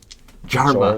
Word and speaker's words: Jorva: Jarva. Jorva. Jorva. Jarva. Jorva. I feel like we've changed the name every time we've pronounced it. No, it's Jorva.